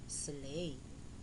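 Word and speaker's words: sleigh: eight now let's review these words with silent gh knight n i g h t night do d o u g h slay s l e i g h eight e i g h t eight now boys and girls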